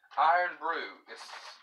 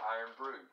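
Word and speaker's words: Irn-Bru: except this one's got uh iron brew is how it's pronounced it's called iron brew i'm not sure what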